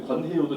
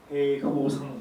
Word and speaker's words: 권해효: 일본 발음 제가 인사를 하면은 제 말은 정말 일본 사람들이 발음하기 가장 어려운 몽당연필도 어려운데 권해요도 정말 어렵거든요. 그래서 일본 분들은 공해효상 이렇게 하죠.